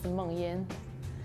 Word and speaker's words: Mengyin: If you pronounce it in Chinese, it's Mengyin.